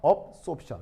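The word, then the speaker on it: absorption: 영어 단어 중에 어쏨션이라는 말하고요. 업소션이라는 말이 있어요. 그래서 어쏨션과 업소션. 알겠죠? 발음도. 자, 알파벳 차이를 알겠어요? 이건 D, B.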